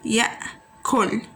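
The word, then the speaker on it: يأكل: It's pronounced like that, So merging the four letters together is pronounced like that, ya'kul.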